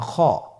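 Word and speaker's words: خ: খ হরফটি হলো মোটা হরফ, উচ্চারণের ক্ষেত্রে মোটা হবে। ছবিতে দেখুন খ হরফটি কীভাবে উচ্চারণ করতে হবে। খ হরফটির মাখরাজ হলো কণ্ঠনালীর শেষ ভাগ হতে উচ্চারণ করতে হয়, কণ্ঠনালীর শেষ ভাগ।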